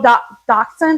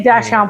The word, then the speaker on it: dachshund: A little dachshund, is that how you say it? I say dachshund, but that's not right.